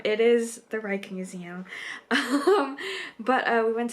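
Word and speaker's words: Rijksmuseum: leading up to that I had always called it the Reich Museum and then I had second guessed how I was supposed to pronounce it called the Rick Museum it is the Reich Museum um but uh we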